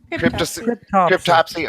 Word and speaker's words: Cryptopsy: Cryptopsy.